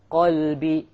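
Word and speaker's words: قلب: From, if you change to a kaf, you become from a heart to a dog, right? Qalb means what? Heart. And kalb means dog. So if you mispronounce these letters, you're going to change the entire meaning.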